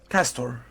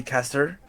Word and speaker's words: Castor: Castor to castor. It's that's how you're supposed to say it. But some people just say caster, which is also fine.